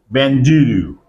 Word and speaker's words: bandulu: Benjuru. Let me write down the word. B A N D U L U. Benjulu.